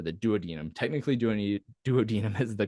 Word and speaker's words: duodenum: the duodenum or the duodenum technically do any duodenum is the correct pronunciation but I think it sounds weird so I always learned duodenum as I was learning this stuff so we'll